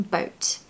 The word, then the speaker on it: boat: we're in the same boat now a pronunciation tip make sure you pronounce the T on the end of boat um the T sound